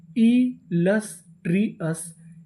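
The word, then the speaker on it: illustrious: मिले तो हम लोग ओ यू एस को पढ़ते हैं अस। तो मीनिंग क्या बनी? इलस्ट्रियस, इलस्ट्रियस, इलस्ट्रियस।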